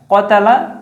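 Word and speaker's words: قَاتَلَ: কতালা। আর এটার মধ্যে এক আলিফ টান দেওয়া আছে।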